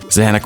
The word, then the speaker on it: Zanac: Zanac rhymes with panic, or at least I think it does, and perfectly explains how I feel when playing this game.